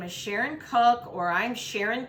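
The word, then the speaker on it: Koch: Once again, my name is Sharon Cook, or I'm Sharon. Cook is spelled -O-C-H. We pronounce it Cook.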